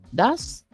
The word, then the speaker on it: does: Estos auxiliares son el das y el do. Pendiente con la pronunciación.